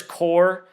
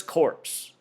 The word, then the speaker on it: Corps: And and you know they tell us the word is core, but look at the word. If you didn't know English and you were learning to pronounce, you'd think the word is corpse. Looks almost like how we spell corpse.